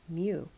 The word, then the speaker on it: mu: micrometer the abbreviation is a mu this is pronounced mu and it is like a curly you but